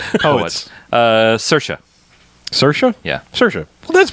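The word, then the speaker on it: Saoirse: Um, actually it's Do we have a pronunciation? I'm o poets. Uh, Cersa.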